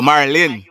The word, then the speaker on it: Marlyn: Oh, Marlyn. That's my right name.